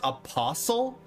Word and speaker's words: apostle: Are you telling me that it's supposed to be pronounced apostle? Not apostle? It's pronounced apostle. No way. No way. This is a troll. Apostle. No. Apostle. No fucking way. Apostle. What? Like whistle or listen? Hustle, jostle, apostle, bristle, thistle, or wrestle?